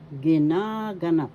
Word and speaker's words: ginaganap: syllable ga syllable ginaganap ginaganap second syllable has the action so you pronounce this as ginaganap ginaganap happening gaganapin will happen.